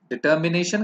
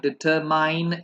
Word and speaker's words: determine: तो डिटरमिन होता है, भले ही स्पेलिंग में MINE हारा हो, plus please mind the pronunciation, it's नॉट डिटरमाइन, इट्स डिटरमिन.